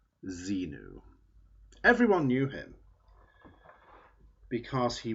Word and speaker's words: Xenu: Now you could spell it Xemu, and you'd have to say his name was Xemu. But generally people called him Xenu.